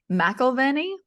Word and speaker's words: McEverly: McEverly is Oh, my right. I name. always say it wrong. Oh, no, I No, didn't. everybody does. I didn't You last didn't. time. No, you got it. McElveny?